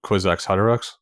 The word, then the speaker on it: Kwisatz Haderach: that he has to die to become the Kwisatz Haderach.